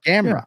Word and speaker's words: Gamrot: Well, you got the last name right. And ultimately, for your purposes in the main event challenge, all you need to master is the last name. Sure. Gamrot. Yeah. First name was butchered like the local guy cutting up red meat. Cody, do you have the file for us? My name is Mateusz Gamrot.